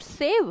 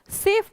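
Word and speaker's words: safe: इट इज नॉट सेव, सेव नहीं बोलते Rupinder, सेफ बोलते हैं।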